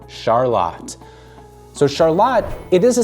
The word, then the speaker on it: Charlotte: So it's not Charlotte because that's when you see like Charlotte, North Carolina, it's spelled exactly like Charlotte. But here in Lancing, we call it Charlotte.